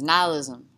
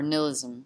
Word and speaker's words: nihilism: right no it was nihilism or nilism depending on how you want to say it i'm from monroe north